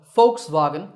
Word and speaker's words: Volkswagen: car of common folks I also notice that the W sound in the second part of the name represents not a was sound but a sound so folks Vagan is the correct way to say it alright if you enjoyed